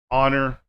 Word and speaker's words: honor: So we have air, honor, hour, ghost, what, when, where, why, while, weather, white, rhythm. So these are silent H.